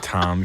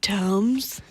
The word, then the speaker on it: Toms: Fucking Tom shoes. He thinks he's so cool. He's probably like, if you ever met him, he's like, it's pronounced Toms.